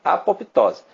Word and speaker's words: apoptose: também chamada de apoptose o p é mudo né e o s é com s não é com z apoptose é um fenômeno que